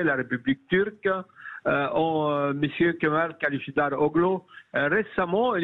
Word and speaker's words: Kılıçdaroğlu: Nous avons un opposant qui s'appelle Kemal Kılıçdaroğlu, c'est ça? Exact. Exact, parce que c'est pas facile à prononcer, hein, je vous dis tout de suite.